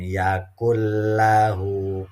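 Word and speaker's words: يَكُن لَّهُ: walam Yakul habisin inget walaupun tulisannya Yakun tapi kita bacanya walam yakullahu kufuwan Ahad adzab itu Hai artinya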